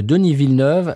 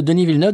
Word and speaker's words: Denis Villeneuve: parlent de Denis Villeneuve, c'est extrêmement rigolo d'entendre les Américains essayer de prononcer Denis Villeneuve. Comment il est? Danny Villanueva, si. Voilà. Parce qu'ils prennent le truc, parce qu'ils ont déjà entendu Villanueva en espagnol.